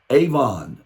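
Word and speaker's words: עוון: This word is really quite amazing in the Hebrew, avon. It's pronounced A-W-V-O-N-E. The word is A-V-O-N.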